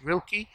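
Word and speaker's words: Rilke: his blessedness may share and then rilcah real quick slaughter type people pronounce it rilky have you heard of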